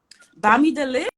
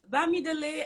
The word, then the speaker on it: Bamidele: So today I have with me Bamidele. Yeah, Is that right? Did I say it right? Yeah. Bamidele, I have Bamidele with me today.